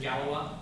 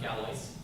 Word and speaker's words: Galois: Galois. It's pronounced Galois, not Galois.